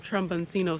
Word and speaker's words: tromboncino: we're gonna tuck some tromboncino squash around the garden. I'm gonna let you do that. Let's go ahead and do the labels. Put, you see how that's spelled? Tromboncino. Trombone? Yeah, it's like trombone.